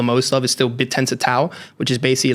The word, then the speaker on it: TAO: I hold the most of, is still BitTensor Tau, which is basically like the Bitcoin of AI coins. How do you spell that?